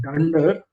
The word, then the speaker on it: dunder: Um, so this underscore underscore is actually called dunder. Uh, dunder init. So this is how you pronounce it.